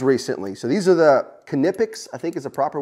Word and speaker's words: Knipex: So these are the Knipex, I think is a proper way to pronounce it.